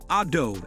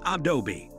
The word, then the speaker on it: Adobe: Ah-dobe as the computer software company is commonly referred to is not the correct pronunciation. People mispronounce this name since they split the name into two syllables, Ah-dobe rather than three Ah-doh-be, pretty much like Delmonte.